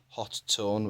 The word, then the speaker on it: Hotone: unboxing video of the Hotone. There's some contention over the pronunciation of this. Some call it Hot One or Hot Tone, which is apparently the correct one but makes the least sense.